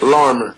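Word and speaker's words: Larimer: Yeah, that's Larmer. Larmer. The R is a little more accentuated. Larmer, is it? Larmer. Yeah, definitely Larmer.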